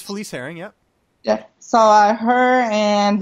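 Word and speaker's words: Felice Herrig: It's Felice Herring, yeah.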